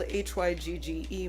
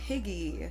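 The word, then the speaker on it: hygge: Hyuga which is called hyg ge many people mispronounce it Higgy soo-ji it is no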